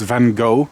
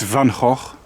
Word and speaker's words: Van Gogh: Yeah, it's not pronounced Van Gogh, it's Van Gogh.